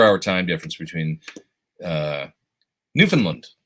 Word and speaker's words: Newfoundland: time difference between uh Newfoundland did I say it right Newfoundland not Newfoundland not Newfoundland Newfoundland somebody called me out because I say Newfoundland but I think it's Newfoundland so Brian for that's right